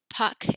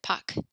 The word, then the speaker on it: Pâques: Pâques is Easter. So you just pronounce it Pâques, like Pac-Man.